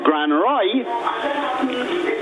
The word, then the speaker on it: Grand Roy: understand why for example you call a Place Grand Roy and if you spell it correctly it's g r a n d r o i and you say wait